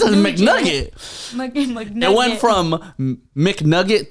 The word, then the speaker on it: McNugget: It's a McNugget. McNugget. It went from McNugget to McNugent.